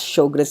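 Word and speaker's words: Sjögren: caused by Sjogren's disease okay so this is pronounced as Sjogren's disease it's an autoimmune disease that destroys the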